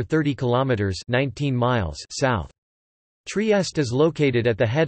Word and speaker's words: Trieste: Trieste, Italian pronunciation, Trieste, listen, Slovene, TRST, is a city and a seaport in northeastern Italy.